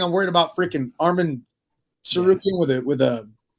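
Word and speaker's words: Tsarukyan: worried about freaking Armin saruki with it with a with a what's a with a silent T at the beginning hey uh so when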